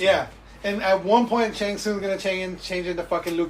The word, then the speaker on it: Shang Tsung: How did they say his name? Shang Tsung. Shang Tsung. You just say it real fast.